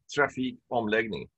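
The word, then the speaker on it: trafikomläggning: move it kind of so om is like uh to undo something or to change it so om legending means that you are changing so then you have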